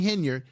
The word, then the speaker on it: Henyard: Tiffany hener H henyard let me say it right Tiffany henard if she's make spending